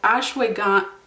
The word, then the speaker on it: ashwagandha: Okay, so ashwagandha, I can't remember how I was supposed to pronounce that.